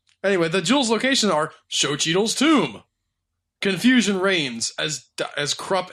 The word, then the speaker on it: Xochitl: Xochitl. Xochitl? Xochitl. Xochitl? They actually pronounce like show.